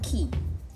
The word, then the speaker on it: qui: Okay, qui. This is pronounced as qui.